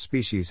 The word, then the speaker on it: species: Phonetic Alphabet to pronounce species have in mind that the size of the syllable indicates where the accent or stress is in this case the accent is in the first syllable corresponding to spay low